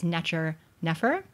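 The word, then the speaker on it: nṯr nfr: So the first one, these first 2 signs, is what we would, in modern times, we pronounce this as Necher, Nefer, and usually translated as the perfect god.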